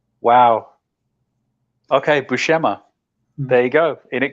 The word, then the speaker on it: Buscema: oh that's news to me all right it's bouchema also oddly enough that was in that pronunciation guide where I learned some kevich Marvel